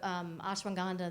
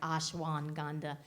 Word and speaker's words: ashwagandha: So the ashwagandha that she's mentioning, it's a long word, but it is spelled exactly as I said it. It's like ashwagandha.